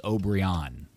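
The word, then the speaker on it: Obrian: speaker of the language, says the proper pronunciation is O'Brien.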